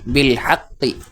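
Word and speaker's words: بالحق: বিল হাক, কবজের কি বিল হাক্কি, দেখতে পাচ্ছেন এখানে একটা আলিফ রয়েছে, এটা উচ্চারণে আসবে না, এটা অতিরিক্ত লেখার মধ্যে অনেক সময় আসে।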